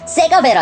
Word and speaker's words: CGV: 이 CGV를 발음으로 세가베라 합니다. 세가베.